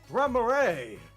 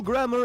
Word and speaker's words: Gramarye: Local grammar and pronunciation Nazi, would you please weigh in? Oh, no, it is Gramarye.